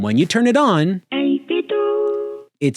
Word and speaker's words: 8BitDo: I've heard people call this company 8-Bit Do a bunch, and I'm sure many of you do too. But I call them 8-Bit Do because a few years